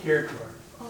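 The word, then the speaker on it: Kirkor: Little I've heard it pronounced Creor. Is that right? Care K I R K O R Kore.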